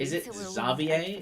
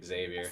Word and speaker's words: Xavier: support and two lead zavier is how you say his name that's funny we will be able to make I always just thought it was Xavier I'm a basic American